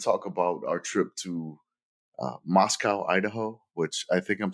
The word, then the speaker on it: Moscow: We're going to talk about our trip to Moscow, Idaho, which I think I'm saying it wrong.